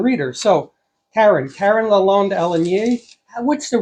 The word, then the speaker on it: Alenier: So Karen Karen London Alanier, what's the right pronunciation? Alanir Alanier Al Alanir Alanir okay um has written eight books of eight